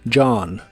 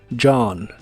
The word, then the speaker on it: John: en la palabra Dj la o se pronuncia como una a profunda y la H es muda John John usaremos la palabra Lost